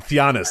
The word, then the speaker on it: Giannis: And then Giannis, I believe, is how you pronounce this one. Or I think it's Giannis.